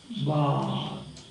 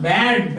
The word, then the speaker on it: bard: And the pronunciation is bard. Not bad. Bad is this way. You pronounce this. This is the vowel. Bad. This is bar. Car. Why? Because it is immediately before a consonant sound.